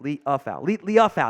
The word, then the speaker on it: Liufau: It is out of Notre Dame, Marist Liufau. Liufau, I think is how it's pronounced. Liufau, that's how it is.